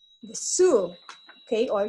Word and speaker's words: Sioux: from the Midwest, and they are called the Sioux, okay, or Sioux. So this is a pronunciation since this is American French word.